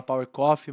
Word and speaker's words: PVVR Coffee: Eh, se fala Power Coffe, mas se escreve PVVR coffee, vocês vão achar assim na rede social, eh, o site, enfim.